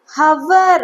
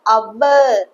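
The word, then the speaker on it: hour: இத எல்லாருமே ஹவர் அப்படின்னு அப்படி இல்ல, ஹச்ங்கிறது சைலண்ட். ஸோ அவர் அவர் அப்படிதான் யூஸ் பண்ணணும், ப்ரொனவுன்ஸ் பண்ணணும். ஆ சவுண்ட் வரனால இங்க an அவர் அப்படிதான் வரும். ஹவர் அப்படின்னு சொல்லக்கூடாது.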